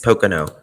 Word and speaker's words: Pocono: I want to know how to say it Pocono Mountain s Pocono okay I was right as for brutal murders